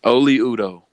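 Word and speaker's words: Oli Udoh: Oli Udo. Okay, there we go. I like that a lot better than what I tried to do. Oli Udo.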